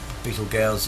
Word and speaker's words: Betelgeuse: the red supergiant star betelgeuse beetle gows i think they also pronounce it as which has an obvious